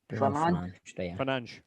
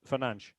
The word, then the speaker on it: Fernandes: Fernandes. So it's like a little soft SH on the end. It's actually quite easy. Fernandes.